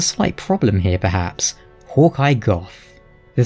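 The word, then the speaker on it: Gough: him Hawkeye Go, but upon speaking to him, he will utter his own name and pronounces it as Goth.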